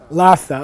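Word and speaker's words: ལྷ་ས: actually reverse them okay for the pronunciation of this particular stack in tibetan you say the H first what what capital city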